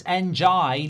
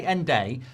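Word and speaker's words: Ndiaye: It's Njai, like saying try. Njai. Okay, that's how I'm going to do it from now on. Denise says, how we have an education on how to pronounce names? Because there's so many get it wrong. Some people say Nday, some people say Ndia, some people say Njaya, some people say NJ.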